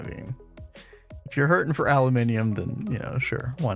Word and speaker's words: aluminium: Alumini. That's how it's pronounced. It's got the extra eye.